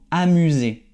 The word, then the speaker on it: amuser: Aquí puedes ver la S no tiene el sonido de S, pero el sonido de la abejita, como siempre digo, Z.